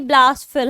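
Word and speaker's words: blaspheme: Second one, इसके pronunciation ही ब्लास्फेम है।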